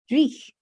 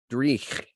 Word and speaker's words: dreich: Dreich. Dreich. How would you spell that word?